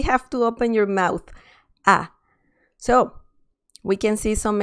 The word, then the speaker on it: a: it's just a okay so in english you say it a but in spanish you say it ah ah okay you really have to open your mouth ah so we can see